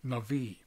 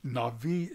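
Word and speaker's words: נביא: a misspelling it's just in the Hebrew this particular way the B is pronounced as a v so it's Nai defined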